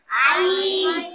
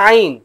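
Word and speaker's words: ع: ভালো করে চিনে নাও আইন গলার ভিতর থেকে উচ্চারণ হয় কোথা থেকে মনে থাকবে তো আলিফ হামজা আইন তাহলে পার্থক্য আছে না নেইঝ বুঝতে পারছ?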